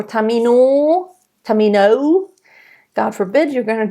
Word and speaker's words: Tamino: Tamino. You know, it's not Tamino or Tamino.